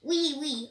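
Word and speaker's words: oui: I knew that was French for yes, but it is pronounced wee, wee.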